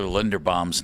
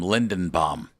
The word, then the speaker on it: Linderbaum: Is it also telling that he mispronounced Tyler Linderbaum's name and called him Lindenbaum?